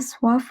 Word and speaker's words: soif: Non merci, je n'ai pas soif non plus. No thank you, again je n'ai pas, I do not have. Soif, it means thirst. Remember that OI is pronounced as OA.